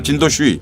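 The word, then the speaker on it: 陈独秀: 중국말로 진도슈이 발음 이렇게 하는데 그러니까 그럴 정도 중국의 당시 초기를 열던 사람들 최고의 사람들하고 친구였어요 이분이요.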